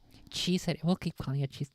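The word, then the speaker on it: Chi Ceti: Sigma Octantis 4 has Kai Seti is how it's supposed to be pronounced. Kai, huh? Kai Seti 4. Kai Seti 4. Chi Seti.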